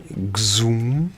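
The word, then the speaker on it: XOM: Zoom. Zoom. It sounds like Zoom, the one for video conferencing.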